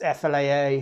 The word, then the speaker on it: Fleadh: this um it's called the flat ipa it's pronounced flaa fla but flacciol is a really ancient irish